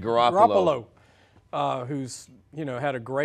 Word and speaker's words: Garoppolo: Garoppolo, who's, you know, had a great career with,